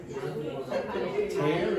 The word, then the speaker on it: tear: Tear is this. Tear or tear? Tear, it's the same spelling, but it's a different pronunciation.